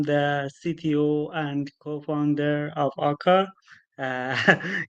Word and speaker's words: Akka: is Morty I'm the CTO and co-founder of AA uh it's actually pronounce AA to be honest so yeah AA is a